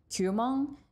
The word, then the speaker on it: Kumong: Kumong is how you pronounce their name and they were very gracious in giving me permission to react to their videos.